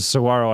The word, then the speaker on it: saguaro: so whatever it's a saguaro cat Saguaro like the G silence yeah yeah dude there's